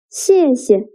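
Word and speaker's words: 谢谢: 谢谢. The second character is pronounced with a neutral tone.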